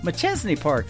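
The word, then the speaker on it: Machesney Park: McChesney Park, that's how you say it, Illinois.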